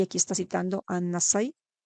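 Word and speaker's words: النسائي: Comienza a narrar ya otra de las colecciones de Persuna, y aquí está citando a Nasai, creo que se pronuncia Nasi en árabe, donde él narra de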